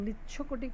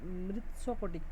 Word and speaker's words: মৃচ্ছকটিক: মৃচ্ছকটিক মানে হচ্ছে, আমরা মৃচ্ছকটিক উচ্চারণ করছি, মৃচ্ছকটিকটা আসল নয়, উচ্চারণটা মৃৎশকটিক এরকম উচ্চারণটা হবে।